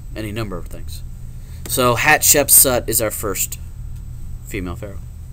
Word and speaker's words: Hatshepsut: If you look at her name and you split it up into parts, you can actually see how to pronounce her name. So her name is Hatshepsut, basically.